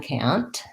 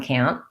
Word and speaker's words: can't: has a t but in reality we make a stop t on can't can't we don't say can't very often and we use that pure vowel so you just want to make a short n and then stop your sound can't count versus can